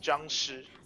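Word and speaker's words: 僵尸: There's an R that isn't there. Yeah. It's pronounced Jiangshi.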